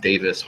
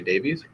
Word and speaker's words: Davies: a very common one I think it's pronounced Davis what we say Davies can imagine there being